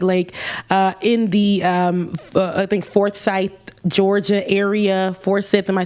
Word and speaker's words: Forsyth: it's a man-made lake in the, I think, Forsyth, Georgia area. Forsyth, am I saying it right, Bubba? Forsyth County.